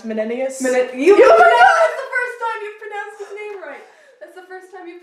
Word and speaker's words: Menenius: me is the guy whose name I cannot pronounce, Menenius. That's the first time you've pronounced his name right. That's the first time you've pronounced his name right. Menenius.